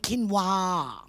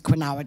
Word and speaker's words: quinoa: things like kale and quinoa yeah it's not quinoa i thought it was quinoa too it's quinoa it's very hard to